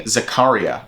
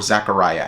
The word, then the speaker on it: Zaccaria: be talking about saint anthony zakaria or zachariah i think we're going to go with zakaria my uh my pronunciation in italian is not the greatest but saint anthony zakaria